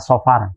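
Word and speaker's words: صفر: Safar artinya bepergian ya Secara pelafalan mestinya adalah saofar cuma karena memang lidah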